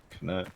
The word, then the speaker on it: Knut: Nut is an actual word. Nut and bolt. Spelled with a K. Pensieve. Whatever they call it when it's a pensieve. Knut when it's a nut.